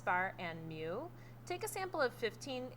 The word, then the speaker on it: mu: it's pronounced x bar mu is pronounced mu m-e-w the formula for x-bar